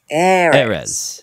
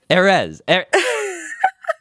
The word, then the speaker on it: Erez: Erez. Why is this hard? It's because it's so unnatural for English to you know, emphasize the first syllable, I guess. It's, yeah. Erez.